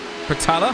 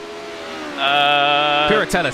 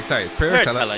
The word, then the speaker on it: Piratella: past Tosa, up towards Pertella. I think that's how you say it, Pertella? Piratella, sorry, Piratella. Yes.